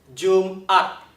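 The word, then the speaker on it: Jum'at: 所以你听 June 跟 at 中间要顿一下，没有连起来哦，所以它不是念成 Jumat，不对哦，不是 Jumat，而是 Jumat. Jumat，中间有顿一下，这就是喉塞音。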